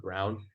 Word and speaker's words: Braun: really Yeah, You know it's pronounced Brown.